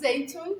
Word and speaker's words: Zeytoon: I want to pronounce Okay, that. I was They excited. call that Zeytoon, Parvardeh, or marinated olives.